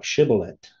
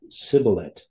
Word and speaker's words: shibboleth: If he said, nay, then said they unto him, say now, Shibboleth. And they said, Sibboleth, for they could not frame to pronounce it right.